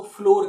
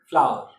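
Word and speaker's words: flour: वो इसको कई लोग इसको फ्लोर कहते हैं. फ्लोर मतलब आटा वो समझते हैं. फ्लोर प्रोनाउंस नहीं करते दोस्तों. इट is called फ्लावर.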